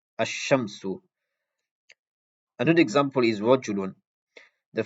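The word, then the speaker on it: الشَّمْسُ: So there won't be any sakin on the lam. Rather, there's going to be a tashdid on the sheen. So the way you pronounce it is like this: ash-shamsu, ash-shamsu.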